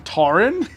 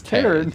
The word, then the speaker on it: Taryn: You say your name wrong, Taran. It's Taryn. Damn.